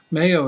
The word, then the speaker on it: Mayo: And Mayo is spelled M-A-Y-O, M-A-Y-O, kind of like for mayonnaise, it started off.